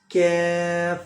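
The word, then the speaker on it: كاف: Kaf.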